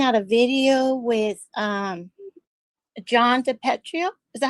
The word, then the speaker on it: DePetro: I was looking at a video with John DePetrio. Is that how you say his name? John DePetro.